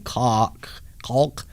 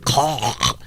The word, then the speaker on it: caulk: I always pronounce the L in caulk. To prevent, now I see why they don't pronounce the L. To prevent any embarrassing misunderstandings. I don't know if caulk is better than cock.